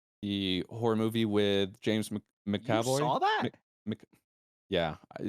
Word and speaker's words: McAvoy: Second up, we have Speak No Evil, the horror movie with James McAvoy.